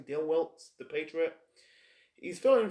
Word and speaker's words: Dale Wilkes: I almost called him Des Wilkes, but it's actually Dale Wilkes, the Patriot.